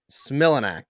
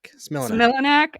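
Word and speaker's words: Smilanic: Google auto completed it as Ty Similac, and I was like, "Oh, that's the same as the baby formula," but it's Smilanak. Similanek. Okay, thank you.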